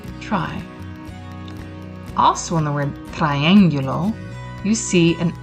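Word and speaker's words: triángulo: the words correctly so when there's an accent over the eye that means we really want to kind of focus on that i sound so triangular there you go and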